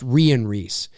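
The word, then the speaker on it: Rhian Rees: yeah yeah it's a it's actually it's it's pronounced Rian Rhys um yeah I remember that because we talked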